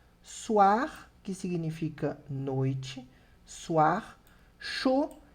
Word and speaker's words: chaud: Chaud, que significa quente. Som de O com D que eu não pronuncio, d'accord?